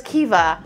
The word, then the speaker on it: Caoimhe: It's spelled Caoimhe. Okay. But the name is Kiva.